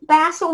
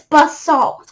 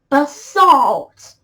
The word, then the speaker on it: basalt: the british pronunciation but by the way it's bust salt all right not basil basalt but i gotta say